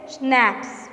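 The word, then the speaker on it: schnapps: उसने बोला कि देखो यहाँ पे उसका प्रोनाउंस है स्नैप्स.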